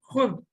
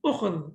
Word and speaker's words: خُذ: So it should be ukhud, okay? But what the Arabs did, they said, okay, we find it difficult to pronounce, so we will only pronounce it as khud. So it is khud, you take.